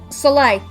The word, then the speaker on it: Soleil: And Gavin's saying I've always pronounced this as Soleil, but I'm guessing I'm a smidge wrong. Soleil.